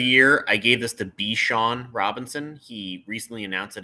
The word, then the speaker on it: Bijan: So I can respect somebody saying, hey, it's Bijan, not Bijan.